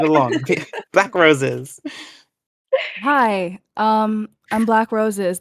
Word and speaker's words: Black Roses: Hi, I'm Black Roses. The first B is silent. Please don't say it.